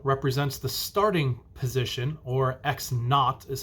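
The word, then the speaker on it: x₀: with a zero represents the starting position or x naught is how it's pronounced or you might see it with a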